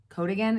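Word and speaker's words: coatigan: or the code again code again is how you say it like the cardigan coat trend i shared this one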